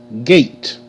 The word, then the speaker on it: gate: by his by himself gate g a gate gate gate okay e is silent okay now you see